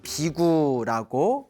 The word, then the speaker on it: 비구: 그리고 이제 우리 한문 발음으로는 비구라고 이제 부르고 있습니다.